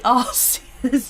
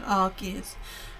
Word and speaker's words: Arceus: I want to say Arceus, but I know that's you pronounce it as a strong K rather than a strong C sound, isn't it? So, Arceus.